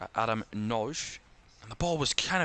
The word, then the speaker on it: Nagy: Been pronouncing that name wrong, but I apologise. Adam Noj.